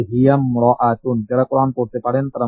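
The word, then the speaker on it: هي امرأة: যেমন দেখেন হিয়া ইমরাতুন, ভেঙ্গে পড়লে এমন হয়, কিন্তু মিলাই পড়ার সময় হিয়াম রাআতুন।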